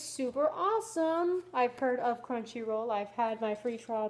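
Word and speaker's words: Crunchyroll: looters enjoy a special 30-day free trial of country roll CR country roll wow crunchy roll it says it right here and I'm freaking mispronouncing it crunchy roll just for you largest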